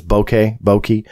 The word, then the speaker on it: bokeh: I think Mick West, and full credit to him, put up an excellent argument that those were, I think the correct pronunciation is bokeh, but essentially that is